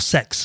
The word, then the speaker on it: CEX: would be good old CEX or Sex, as they constantly try to get us to pronounce it, which nobody does.